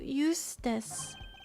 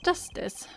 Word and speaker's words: Justice: Apollo Eustice. That's justice.